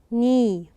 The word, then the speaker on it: knee: word knee knee okay here the K is silent we didn't pronounce it but we have to write it okay so this is